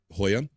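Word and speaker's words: хуй: a an opinion about Hoya uh in in Russian dick is spelled xyn Z and it is pronounced Hoy not joking there you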